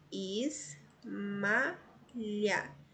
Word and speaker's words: Ismália: o título do poema veja só Ismália nós temos aqui ó fiz malha três sílabas a penúltima sílaba mais forte então a palavra paroxítona quatro o que